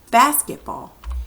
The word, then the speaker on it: basketball: there basketball okay now which syllable do we say the loudest let's say it normally ready basketball basketball it's always that first syllable in it basketball okay